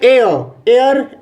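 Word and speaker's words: heir: Next 45, सी is going to marry N एयर, H silent हो जाता है, इसलिए एन का यूज होगा।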